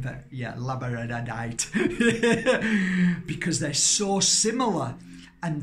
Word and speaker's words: labradorite: I can never say it right but yeah labradorite because they're so similar and they work hand-in-hand